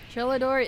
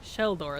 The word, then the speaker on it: Shellador: shellador I appreciate that shellador is AFK super pricing your name wrong shell door there we go shell door is AFK